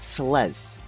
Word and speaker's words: Celes: name is actually pronounced celes there is no te at the end and I don't know